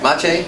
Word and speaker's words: Maciej: Maciej Machilowski. Maciej Machilowski.